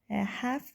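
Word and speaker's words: half: نکته تلفظی هم بگم هفت به معنای نصف کردن اون الی که وسطش هست اون خونده نمیشه کلاً یعنی شما باید ه تلفظ کنید بچهها این جمله خیلی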